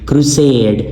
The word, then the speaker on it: crusade: crusade, crusade. اب یہاں پہ اس syllable پہ زور نہیں ہے, سیڈ کے اوپر زور ہے, اس کو کیپیٹل بھی لکھا گیا ہے.